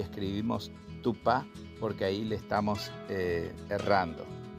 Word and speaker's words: Tupã: que es oral, y la A, que es nasal, así como arrugando la nariz. A, A. Bien, Tupá, que significa cama, se escribe con la A oral, Tupá, así como está escrito aquí. Y si vamos a referirnos a la figura de Dios, a la divinidad, es Tupá, con la letra A, la A nasal.